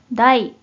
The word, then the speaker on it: 題: 먼저 뜻으로는 발음이 없고 음으로만 다이, 다이, 라고 발음해요.